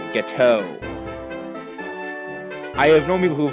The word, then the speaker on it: Gateau: And we got an old Gatieyu. No, it is old Gateau.